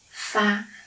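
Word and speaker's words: 八: typical number is eight the pronunciation for eight is like fa fi means you have a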